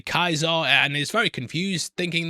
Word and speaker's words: Caesar: She hears them say Kaiser and is very confused, thinking that they might mean a German Kaiser. And yeah, I'm glad they acknowledged it, because yeah, it's spelled Caesar, but pronounced completely differently.